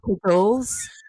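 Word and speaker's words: cagoule: It's It's pronounced kagoulles.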